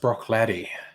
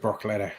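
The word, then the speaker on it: Bruichladdich: bloody well right um you think that distillery is pronounced brock laddie that mate yeah broccoli yeah that that that makes sense that actually makes sense that looks like it should be pronounced brock letter i think you're right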